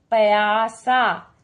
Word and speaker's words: प्यासा: प्यासा। पया, हमें तो क्या चाहिए? प्या, प्यासा। उच्चारण को समझिए, प्यासा। तो आधा प के लिए छोटी सी ध्वनि निकालेंगे, प की, प्य।